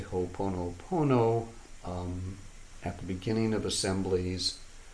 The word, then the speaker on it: Ho'oponopono: Ho'oponopono. How do you spell it?